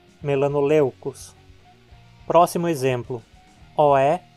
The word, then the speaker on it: melanoleucos: Vejamos o primeiro exemplo. EU é considerado um ditongo. Então, na separação silábica, a penúltima sílaba fica sendo leu. Tem ditongo e, portanto, é longa. A palavra é paroxítona, melanoleucos.